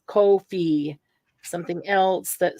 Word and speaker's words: Ko-fi: Here's something that says it rhymes with no fee. So it's Ko-fi.